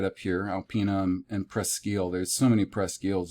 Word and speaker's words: Presque Isle: is just the designation preskin french means almost and eel is isle isla they just pronounce it eel presque isle almost an island which